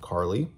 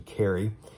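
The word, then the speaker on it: Cari: about a girl named carly or sorry carrie it's spelled c-a-r-i so i keep wanting to say carly but it's actually carrie and she is going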